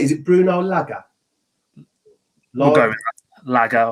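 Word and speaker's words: Lage: And, okay, yes, a hell of a lot of games managed less, but it's pronounced Laga.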